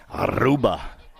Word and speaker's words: Aruba: When you roll your R's, it just sounds better. Aruba.